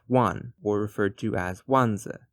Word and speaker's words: 卍: It is pronounced wan, or referred to as wanzi, the wan character. It is a homophone for the word meaning 10,000, so using the swastika